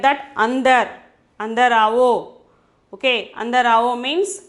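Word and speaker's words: अंदर: Andar, aavo. Okay, under avo means come inside. Okay, under means that there also before the we have to pronounce ind. Okay, we have to pronounce ind, under.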